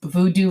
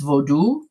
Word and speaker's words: vodou: went to a fete vodou which is in english we would say a voodoo ceremony voodoo is an extremely incorrect pronunciation it's vodou how do you spell